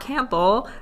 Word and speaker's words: Campbell: to say his name Campbell Campbell yeah it's like the camp Pole but um this has